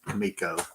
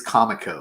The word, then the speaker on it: Comico: Johnny Quest Kimiko series kamiko it is Comico I got corrected a few times and the way I pronounce some names and people in comic because I learned everything I've mispronounced this because I've learned those names through reading on my own but anyway it is it is Comico okay not kamiko kamiko was a a